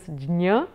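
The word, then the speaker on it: ज्ञ: I just like to draw your attention on the pronunciation of this jnya. When you're writing it in Sanskrit, it's a combination of j and nya. So I normally recommend that in order to be precise with the sound, you quickly run over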